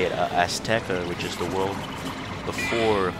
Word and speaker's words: Azteca: When we get to and they actually in the patch notes made might as well just go say it, Azteca, which is the world before Chrysalis.